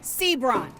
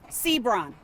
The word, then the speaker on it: Seabron: Yet seconds into that update, he doesn't even know how to pronounce Jaylen Sebrun. His name is Jaylen D'Angelo Sbron.